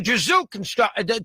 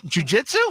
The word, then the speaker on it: jiu-jitsu: did he lose his beautiful wife to a jizou conru to in how you pronounce it what's the word I even know what is it what Jiu-Jitsu jiu-jitsu instructor I mean that's the whole theme